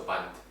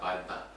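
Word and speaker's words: bandha: They don't pronounce the A. A. So band. Yeah. But not a banda.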